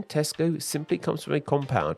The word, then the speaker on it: Tesco: and for those curious it doesn't have an s on the end despite the fact that many people pronounce it that way Tesco has just under 7